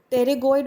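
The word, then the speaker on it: pterygoid: Next comes the internal and external टेरिगोइड muscle. इसमें P silent रहेगा, इसको हम स्पेल करते हैं टेरिगोइड।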